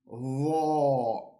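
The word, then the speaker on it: ظ: First, we have to pronounce the sound as in the word there. So again, we put the tip of our tongue against the upper jaw and we say Zha.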